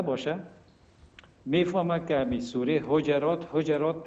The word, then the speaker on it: حجرات: صنف 6 خوانده باشه میفهمه که همی سوره حجرات تلفظ میشه حجرات تلفظ نمیشه آقای غنی دیروز در نطق خود